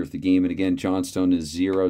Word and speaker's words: Johnstone: And again, Johnstone is zero. So Johnston, it's spelled Johnstone there. It's Johnston.